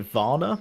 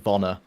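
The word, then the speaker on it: Vaner: I just The only time I agreed with it was when she had is it Vanna? Veaya? I think it's it might be pronounced like honor like vonor like her son essentially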